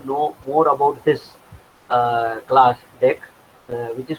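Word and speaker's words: deque: pronunciation as deck, DEQQE, which is pronunciation as deck, and जैसे DECK होता है ना, वही प्रोनाउंसिएशन इसका भी है. एक्चुअली हम अगर अगर चाहे तो DQ बोल सकते हैं इसको, अगर बोलना है तो आपको, but इसका pronunciation deck होता है.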